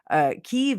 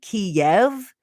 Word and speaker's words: Kyiv: Kyiv is the Ukrainian pronunciation. Kiev is the Russian pronunciation.